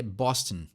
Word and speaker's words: Boston: pronunciar o nome né em português a gente dar aquela esticadinha sempre no final das palavras em inglês aquela Boston Mas se for falar em inglês é Boston tenho daquela comidinha no final da palavra frente a pula para